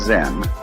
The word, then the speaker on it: Zen: so then this word zen is Japanese way of pronouncing the Chinese word ch which in turn